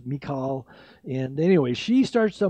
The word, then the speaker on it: Michal: Looks like Michael, but it was Michal.